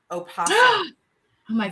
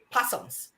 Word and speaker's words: opossums: funny right you that you say it just like an author would say it opposite versus those of us who are not authors say possums i cannot believe never i never pronounced the o are you telling me